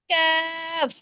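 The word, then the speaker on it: ك: number মাফসটা দেখি আমরা পাঁচ নাম্বার মাখরাজ যেহেবার গোড়া হইতে একটু আগে বাড়িয়া তারপর উপরে তালুর সঙ্গে লাগাইয়া উচ্চারিত হয় জিহবার গোড়া থেকে একটু আগে ঠিক আছে ঠিক আছে আপনারা বুঝতে পারছেন জিহবার জিহবার গোড়া থেকে একটু আগে বাড়িয়া মানে একটু আগে যে কফটা উচ্চারণ করলাম ওটা থেকে আরেকটু সামনের থেকে একটু উপরের সাথে লাগিয়ে দিবেন ক্যাফ ক্যা তাহলে দেখবেন কি উচ্চারণটা খুব সুন্দর হবে ক্যাফ বলেন তো আপু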